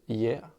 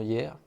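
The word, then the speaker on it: Yeay: Donc sur ma tablette, vous voyez ici, on a une application qui s'appelle Hier. Là. Donc je vais aller dans cette application Hier. Donc ça s'écrit Y-E-A-Y.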